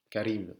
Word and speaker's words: Karim: Karim. En español se pronuncia Karim.